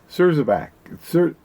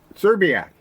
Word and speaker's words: Szczerbiak: Szczerbiak, I think is how most people say it. You don't have to, just because you... No, most people say it like I do. Most people that are having a medical are doing that too. You don't, just because you see the S doesn't mean you have to say the S, Mark.